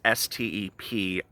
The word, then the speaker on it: Stepien: His name is spelled Stepien. That's Stepien.